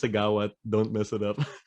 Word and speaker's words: Siggaoat: It's pronounced Siggaoat.